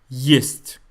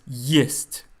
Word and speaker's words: есть: don't want, не, versus есть, to eat. Не есть. So what's going on here? Why есть is pronounced with the y sound and не is pronounced without that y sound?